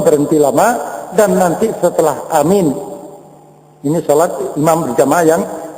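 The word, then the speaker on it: آمين: sini yaitu asahuhuna waaruna yang paling sahih dan paling masyhur yaitu Amin a-nya panjang minnya panjang Amin ya panjang dan tidak pakai syabdah jadi Amin gu ya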